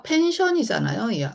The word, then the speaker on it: 펜션: 자, 그대로 읽어보시면요. 피읍에 A에 N 또 나왔네요. 또 니은 앞에 붙어야죠. 펜. 자, 펜션이잖아요.